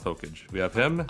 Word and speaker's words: Hokage: It is pronounced Hokage. We have him. Okage.